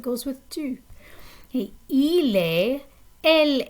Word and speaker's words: est: Okay, il est Elle est. The pronunciation is exactly the same. The T is silent, but you do have to spell it differently.